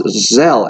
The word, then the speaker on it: Zelle: By the way, I believe it's pronounced Zelle, as in sell, which is odd because you're not supposed to sell stuff with Zelle.